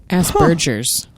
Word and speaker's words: Asperger: there's a kid with aspergers in it okay it's Asbergers it depends on who you ask I'm in Britain Asbergers cuz I think Asbergers is hilarious it's spelled as purger and it's not so it's